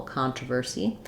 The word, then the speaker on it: controversy: so controversy versy um we don't really link between the ver and the C the C is its own last syllable controversy and easy we just